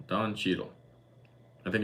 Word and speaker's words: Cheadle: to do uh Josh I always pronounce the name wrong Don Shadel Don Cheadle I think it's Cheeto Don Cheadle is a